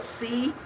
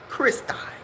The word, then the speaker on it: Christi: It's called Christi. It's spelled C-H-R-I-S-T-I. Christi or Christi, however they gonna say it.